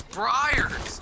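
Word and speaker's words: Breyers: than the fact that um I was eating Bay's ice cream gosh why do people Brays you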